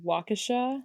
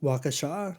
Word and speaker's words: Waukesha: Setting our scene, we are in, I think it's pronounced Waukesha. Waukesha.